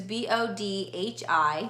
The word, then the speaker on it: Bodhi: So she has a Bodhi, which is B-O-D-H-I, so it's spelled that way, and it's super cute. It's kind of like Brody, which I like, but it's Bodhi.